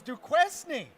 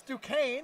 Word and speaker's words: Duquesne: watching that game didn't know how to pronounce Duquesne. Everybody thought it was Duquesne. And it's Duquesne.